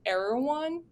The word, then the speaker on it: Erewhon: that your office was like close to an Erewhon. Is that how you say it? Erewhon?